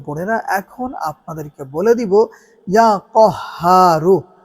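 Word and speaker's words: يا قهار: সম্মানিত দ্বীনি ভাই ও বোনেরা এখন আপনাদেরকে বলে দিব ইয়া কহারু। উচ্চারণটা অবশ্যই খেয়াল রাখবেন যে এখানে কাফের উচ্চারণ হবে না। কফের উচ্চারণ করতে হবে।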